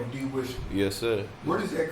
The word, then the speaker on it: De-Wisper: And so that's why I took out the H, because when Nigerians say it's supposed to be De-Wisper, but Nigerians don't pronounce.